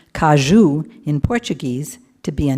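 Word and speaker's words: caju: I'd always known the cashew, which is pronounced kajou in Portuguese to be a nut.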